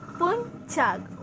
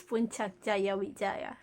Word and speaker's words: Puncak Jaya: It's not Puncak Jaya Wijaya, but it's Puncak. We say C as ch. So you better I mean you're mispronouncing. It's Puncak Jaya Wijaya.